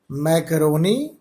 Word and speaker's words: Mascheroni: इसका नाम है आयलर मैकरोनी कांस्टेंट, हाँ, एस साइलेंट रखते हैं।